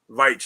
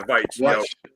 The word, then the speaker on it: Veitch: There was I don't know how do you pronounce the last name? Veitch, yeah, Veitch.